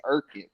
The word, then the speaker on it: Urquhart: But my dad, we grew up saying it, and I believe he still says like this, Urquhart. Urquhart, huh? Yeah, I asked him one day, and I'm like, I can't pronounce it. That's more the Scottish way.